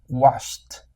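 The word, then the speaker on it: washed: Este se pronuncia con una t al final. Washt. Washt.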